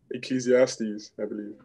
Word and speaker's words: Ecclesiastes: But can someone help me with the pronunciation? Ecclesiastes, I believe.